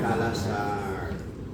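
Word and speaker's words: kala-azar: Calasar. Sí, se escribe calaar, pero se lee calasar.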